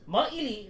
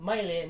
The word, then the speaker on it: Maili: It's Maili, not Maile, not Maili.